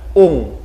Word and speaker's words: ong: dan how selanjutnya ada Ungu Nah jadi OMG oe-nya jangan dibilang Oh tetapi dibilang u jadi Ung seperti Padang Jadi bukan tong long denong ya tapi tunglung akhirnya ada iya iya iya